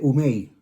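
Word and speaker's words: οὐ μή: Perecerán es Apolimi y jamás, en griego, es una palabra que se dice umei. Umei. Se escribe, si lo fuéramos en los equivalentes, ¿verdad? A nuestro alfabeto, sería O-U-M-E-I.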